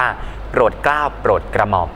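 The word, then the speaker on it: โปรดเกล้าฯ: ไป ยันต น้อย นะ ครับ ก็ อ่าน ว่า โปรดเกล้า โปรด กระหม่อม อย่าง นี้ เป็น ต้น นะ ครับ เครื่อง หมาย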